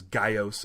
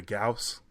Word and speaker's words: Gyaos: have their own Gaius which they they pronounce as guy oh s--- in this one as opposed to gauss yeah I did from